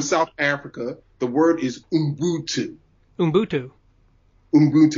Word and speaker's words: Ubuntu: The word is Ubuntu. Ubuntu. Ubuntu. It's spelled with a U, but it's pronounced U.